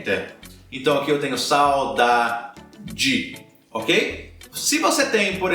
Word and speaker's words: saudade: então vou pegar uma palavra aqui por exemplo Saudade saudade Ok saudade é diferente de dedo dedo